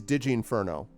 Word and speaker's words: Digi Inferno: So it is Digi Inferno. So I am pronouncing it right? It is Digi? With a softer G, a J, instead of a G.